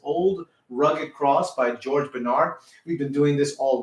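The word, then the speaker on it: Bennard: Okay, Bernard is spelled B-E-N-N-A-R-D. Okay, not the regular Bernard, but Bernard.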